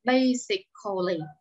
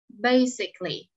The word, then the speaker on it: basically: Nhưng khi mình đọc phát âm, chúng ta không đọc là basically. Đọc vậy là sai. Khi đọc phát âm chữ ồ, mình sẽ giảm xuống. Mình giảm âm, mình không phát âm ra. Basically, vậy thôi. Basically.